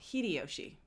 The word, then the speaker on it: Hideyoshi: a samurai named after a samurai pronunciation please pronunciation okay let me go let me turn this off real quick hiday yoshi oh hideyoshi hidayoshi yoshi yeah hidey yoshi okay hidey yoshi